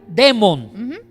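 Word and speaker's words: δαίμων: algo de lingüística griega la alfa con la jota suena entonces aunque se escriba diamond se pronuncian de mont y esa expresión griega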